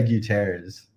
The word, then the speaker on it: Gutierrez: your last name please i say guterres so thank you okay